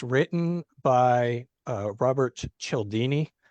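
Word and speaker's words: Cialdini: It's written by uh Robert Chelini. That's spelled C I A L D I N I.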